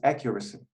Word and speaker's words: accuracy: say purchased accuracy yeah that's accuracy accurate yeah the first syllable is stressed and another thing please